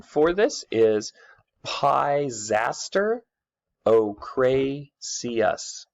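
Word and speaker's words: ochraceus: are one color or the other okay the pronunciation for this is PI's aster Oh Cray see us say it with me Rory heís aster Oh Cray see us Oh Cray see us okay these were really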